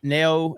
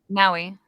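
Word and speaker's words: Naoe: But Neo, how do you say it? Neo? Naui.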